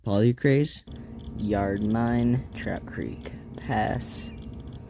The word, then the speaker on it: polycrase: Looks like that says polyrace. Hi, editor's note here. I completely mispronounced that mineral. It's actually pronounced polycrase.